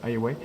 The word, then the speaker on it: Huawei: Donc Honor et bien sûr Huawei, moi je prononce Huawei.